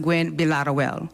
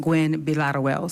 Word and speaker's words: Gwinn-Villaroel: But it is pronounced Gwen Bilaterwell. So it's actually pronounced Gwen Bilaterwell.